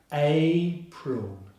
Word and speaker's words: April: So together we have April, April. The stress is on the first syllable, April, April.